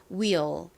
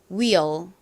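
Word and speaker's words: wheel: 연결해 보면 will이 됩니다 will 발음해 볼게요 will will 좋습니다 약간처럼 들릴 수도 있는데요 그 이유는이 끝에 에를 발음을 할 때 혀를 앞니 뒤쪽에 갖다대면서 발음을 하기 때문입니다 한번 더 해볼까요 자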